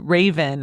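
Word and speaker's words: Ravyn: is called spice and originally I said raven but I think that her name is probably pronounced raven r a v y n last name is len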